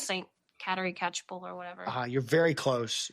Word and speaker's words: Catchpole: Saint Caterpole. Am I gonna get the pronunciation wrong again? It's Saint Catchpole.